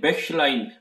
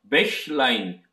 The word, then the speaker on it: Bächlein: 그 CH 발음에 대해서 여러분들께 조금 발음을 좀 팁을 드리고 싶은데 여기도 보면 첫 부분에 In einem Bächlein, Bächlein 백슐라인이라는 단어가 있거든요.